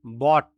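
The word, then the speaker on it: bought: বাই বাই মানে কেনা বট এটা উচ্চারণ হবে বট বাই বট বট buying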